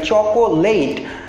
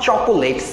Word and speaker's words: chocolate: এল এ টি spelling অনুসারে হয়তো আমরা অনেকের উচ্চারণ করতে পারি চকোলেট বাট ইটস নট চকলেট simply চকলেট চকলেট চকলেট আমরা চকলেট কে উচ্চারণ